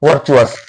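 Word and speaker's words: virtuous: अब यहाँ पर आप देखो टी के बाद में यू आ रहा है, ये जो टी के बाद में यू होता है ना, इसका कंसेप्ट क्या होता है, ये च पड़ता है, ना कि टी को साइलेंट करके क्या करता है, ये च पड़ता है।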